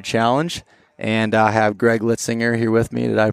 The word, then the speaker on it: Litzinger: the total archery challenge and I have Greg litzinger here with me that I pronounced that correctly correct correct so welcome again